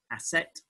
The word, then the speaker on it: Aset: We go by approximation via Coptic, which is the closest language that's still around for it.